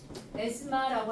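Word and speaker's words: asthma: S 에스마라고 하는 거. 에스마의 이 TH 발음이 거의 없어요.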